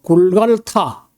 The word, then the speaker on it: 골고다: 거기 그 언덕 빼기를 어 우리가 보통 골고다 골고다라고 하는데이 말은 어 히브리어가 아닙니다. 원래 아람 나라완 아람의 시리아인데 아람으로 어 굴갈타 굴갈라고 하는 건데 이것이 그죠 어 발음하기 어려우니까 우리 할아버지들이에 굴갈타리 못 하고 이제 월고다 이렇게 했고요.